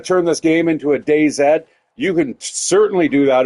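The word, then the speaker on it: DayZ: want to pronounce it I call it day Zed just because in Canada uh we pronounce her our Z as an uh Zed so that is uh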